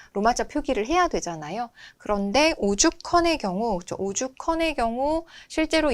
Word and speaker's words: 오죽헌: 그런데 오죽헌의 경우, 그렇죠. 오죽헌의 경우 실제로 이와 같은 거센 소리 되기가 이루어졌을 때 오죽헌 발음해 보면 이렇게 컨으로 발음이 되죠.